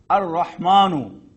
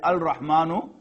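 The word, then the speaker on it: الرحمن: Beautiful example, ar-Rahmanu. You will not pronounce it as al-Rahmanu, ar-Rahmanu, ar-Rahimu, the compassionate, the merciful.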